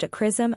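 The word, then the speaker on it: XRISM: will run through 2025 Japan sism x-ray Imaging and spectroscopy Mission pronounced aism Observatory expected to launch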